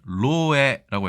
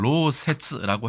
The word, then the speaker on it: 漏洩: 일본에서는 로에라고 해서 다소 이 글자의 발음이 신기하긴 한데 원래는 로세츠라고 해야 되지만 이 글자를 관용음이라고 해서 그렇죠? 이걸 끌 예로 보는 것이죠. 셀 예로 보는 것 같습니다.